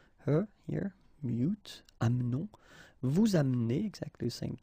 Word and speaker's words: amenons: It's a silent here, mute, amenons. Vous amenez, exactly the same thing, you don't pronounce this and then here back this change, so amène.